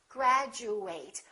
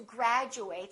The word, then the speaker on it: graduate: of word it is if it's a verb we fully pronounce eight and it kind of sounds like the number eight graduate I would like to graduate from college I will